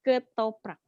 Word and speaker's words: ketoprak: I really like ketoprak because it's delicious. Yes. But you pronounce it wrong. It's ketoprak.